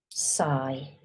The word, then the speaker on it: sigh: It's s s i sigh like sigh you can hear these two you can't hear these